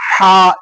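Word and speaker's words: ح: ஹா மேல வந்து இந்த ஹாவை உச்சரிக்கும் போது ஹா என்று சொன்னோம். இதை கொஞ்சம் வல்லினமாக கொஞ்சம் கடினமாக ஹா என்று உச்சரிக்க வேண்டும்.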